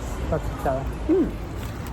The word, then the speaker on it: stracciatella: How do you pronounce it? Stracciatella? Yes. Stracciatella.